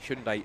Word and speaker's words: Hyundai: So the field now neutralised, just stacked up behind the Hyundai should say it right, Hyundai iconic race car, safety car.